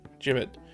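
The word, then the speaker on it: gibbet: forget the pronounce pronunciation A jibit right it's a jibit g i BB e t jibit where you have like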